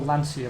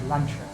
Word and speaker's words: Lancia: worse than Lancia, which normally I would call Lancia, but I work with Italian people and they told me that Lancia is the incorrect pronunciation and it's actually Lancia.